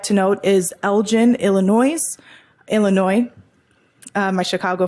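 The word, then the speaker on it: Elgin: Um one I'd like to note is Elgen, Illinois, Illinois. Uh my Chicago friends will call me out for that. Um it's spelled E L G I N. Elgen, Illinois. and their resolution is prohibiting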